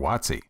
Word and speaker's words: WOTC: If you think you might want to apply for a Work Opportunity Tax Credit or WOTC (pronounced “watt-see”), The next few minutes will show you how to do it.